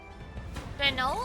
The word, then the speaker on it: Renault: ends in uh UL it's usually French and it's pronounced like an o sound so there's Lego l